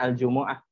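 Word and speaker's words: Al-Jumu'ah: dhomah kebanyakan qiroat ya Setahu saya di sholat di Alquran tuh bacanya Al Jumuah Al Jumuah kalau dengan sukun kalau Indonesia Jumat ya kalau orang Arab sama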